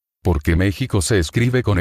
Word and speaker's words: México: ¿Por qué México se escribe con X y no con J? ¿Y qué significa la palabra México? La palabra México. México se escribe con X, aunque suene a J, desde que el nombre